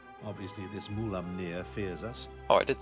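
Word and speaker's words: Mulaamnir: Yes, I spoke with the dragon Mulaminir. I think I butchered that again.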